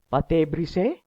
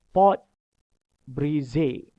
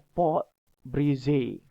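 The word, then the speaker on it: pâte brisée: Pâté brisé, pâté sucré atau pâté sablé? Bukan. Kita tengok yang pertama. Okey, sebutan dia adalah pot brisé. Nampak ejaan dia adalah P-A-T-E, tapi sebutan dia adalah pot brisé.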